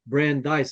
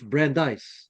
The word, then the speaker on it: Brandeis: Brandise is actually spelled B R A N D I S. So I thought, is it Brandis? Of course not. It's Brandeise.